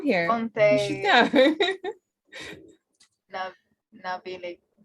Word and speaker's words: Navigli: Navili. They don't pronounce the G. It won't be a G. So it'll be like Billy. Navili.